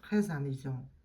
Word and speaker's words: très amusant: Make sure that you do the liaison on that S. Because amusant starts with a vowel, so you're going to pronounce that S and it's going to sound like a Z sound.